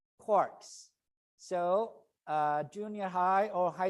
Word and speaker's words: quark: inside protons and neutrons there are something called quarks so junior high or high school students learn